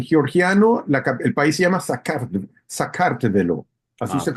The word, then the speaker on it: Sakartvelo: de paso, en georgiano el país se llama Sakartvelo, así Ah, se ok.